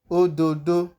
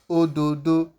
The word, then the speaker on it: ododo: The example we have here is ododo. You can hear the O sound as I'm pronouncing the word ododo.